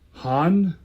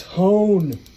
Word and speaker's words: hone: why okay which means this word is Han no it's hone you don't see how it's because it's not Han that's why okay and then